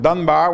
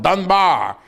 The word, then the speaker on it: Dunbar: He even pronounced it in a strange way, not the Battle of Dunbar, which is the way we usually say it, but the Battle of Dunbar.